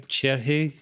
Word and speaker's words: Cerri: How we pronounce her last name? Cherhe.